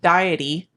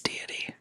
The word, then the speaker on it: deity: words all the time so that diety uh sorry about that it's deity if you didn't know